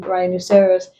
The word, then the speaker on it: rhinoceros: Then also after R and G, we do not pronounce it. Giving examples, rhyme, rhythm, rhinoceros, ghost, ghetto, ghastly, aghast. The is coming after the G and we do not pronounce them.